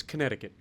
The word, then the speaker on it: Connecticut: The C doesn't actually exist. It shows it, it just doesn't exist. So, for those of you who don't know, it's Connecticut.